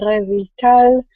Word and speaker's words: Revital: name is reval and this is how you pronounce my name reval it's a Hebrew name and my family name